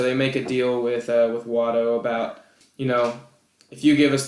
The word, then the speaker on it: Watto: So it's a win-win for Walto, really. Watto. His name's Watto.